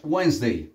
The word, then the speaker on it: Wednesday: Puedes borrar esta D, haz de cuenta que esta D no está y haz de cuenta que esta E tampoco está. Separa la palabra en dos.